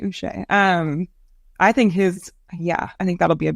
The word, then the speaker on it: Uche: you pronounce his name, Uche. No. Not Uche, Uche.